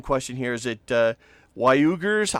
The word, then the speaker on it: Uyghurs: China is holding 3 million, and pronunciation question here, is it Uyghurs? How do I say that? Uyghurs.